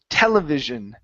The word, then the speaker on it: television: uh this word here television okay so give me a good v television television okay very nice and our